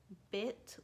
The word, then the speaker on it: bit: So it goes like this: bow, bis, like hiss, like a snake hisses, bit, like hit.